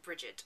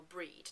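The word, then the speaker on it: Brigid: the sabbaths such as i will call on bridget or breed depending on how you pronounce it um personally i tend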